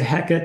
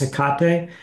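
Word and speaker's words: Hecate: yeah yeah you can say I usually say heckit that's sort of the angiz pronunciation if you're going for a more Greek pronunciation it's heate so both are right I tend to just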